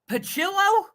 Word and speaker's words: Pillo: featuring in naami um is that how you say his name pillo yes pillo because I've been trying I got an interview with him tomorrow and I was like yeah it's it's it's it's like pillow but chillo pill yeah so